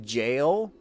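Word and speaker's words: gaol: This is just jail. This is just an old way of spelling jail. The G-A-O-L. That's not what I was pronouncing. I've been pronouncing that wrong, and that's just jail.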